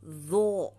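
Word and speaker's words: ظ: gams to next letter zo zo sa pagbigkas nito ang dila na sa ngipin sa front and then ang dila sa likod nakaangat next ain ain sa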